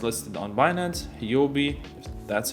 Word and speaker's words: Huobi: Binance, which means that it's listed on Binance, Huobi, that's how it's said, Kraken, KuCoin, Bittrex, Poloniex.